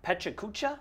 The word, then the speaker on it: Pecha Kucha: guys have a pet chew i don't know pecha kucha event yes you said it right yes what